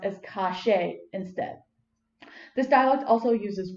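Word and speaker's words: calle: means street and english the y is pronounced with an sh sound so instead of kaye it's pronounced as cache instead this dialect also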